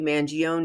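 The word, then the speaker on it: Mangione: trial speaking of Trials Luigi Manon yes I am an Italian-American from New York that's how I pronounce it Luigi mangion accused of murdering United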